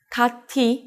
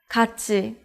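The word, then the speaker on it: 같이: and t it becomes in this case here meets the syllable e so t it becomes tu so you can read it as kachi which means together or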